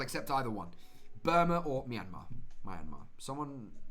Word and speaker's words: Myanmar: Burma or Myanmar. Someone correct my pronunciation. I'm pretty sure it's Myanmar.